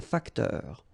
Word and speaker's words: facteur: Then, un facteur, E-U-R, heure, un facteur.